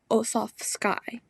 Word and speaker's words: Osofsky: It's by Audrey Osofsky, so you pronounce that Osof, so Osof, and then Sky, so Osofsky, and the book was illustrated by Ed Young.